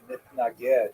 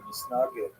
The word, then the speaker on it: Misnagid: harsh reaction from the Misnagdim, from the so-called opponents of the Hasidim, and even the name itself, Mitnaged or Misnagid in Yiddish pronunciation, refers to how the traditionalists, led by the Vilna Gaon, define themselves by their opposition to the Hasidic movement.